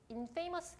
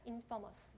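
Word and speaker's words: infamous: 여러분 경찰 기출이 줘 발음은 어떻게 할까 이 os 인 페이머스 당일엔 인 퍼머 스 가 있죠 인성 숙여서 인 퍼머 스 하면 대표 기아스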